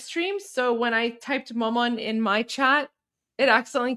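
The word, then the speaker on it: مامان: How do you say mom in Persian? It's maman. Maman.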